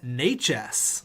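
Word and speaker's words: Nečas: there is the milkman Martin nae Ches that's how you pronounce his name you guys told me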